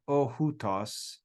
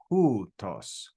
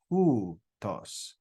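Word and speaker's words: οὗτος: Now, this is kind of weird because in Greek, we pronounce this diphthong as oo. Now, it's not ohutos. I'll type it. It's actually pronounced as hutos, hutos, hutos. Okay? So that diphthong, omicron, upsilon, is pronounced as oo. Ooh, and it's got rough breathing, so it's hu, hutos, hutos.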